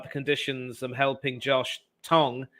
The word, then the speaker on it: Tongue: Instagram chat about the conditions and helping Josh Tong it's not tongue it's tongue but it's spelled tongue go figure um you may have